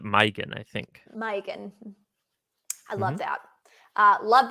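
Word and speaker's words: Maigan: yes this is this is mygen megan uh like megan uh it's spelled m-a-i-g my they pronounce it mygen i think mike i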